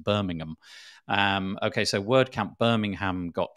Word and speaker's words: Birmingham: Our equivalent, which is spelled the same, is pronounced Birmingham.